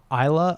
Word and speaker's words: Islay: and then you finish on the island of Islay, I believe it's pronounced. Islay? It's ISLES, whatever it is. Yeah, AY, and people might pronounce it like Islay, but it's actually Islay, and that's where Lagavulin Distillery is, which is